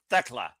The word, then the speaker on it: Thekla: And well, apparently not always since you went with it's not is it Techla or is it Techla? It is Techla.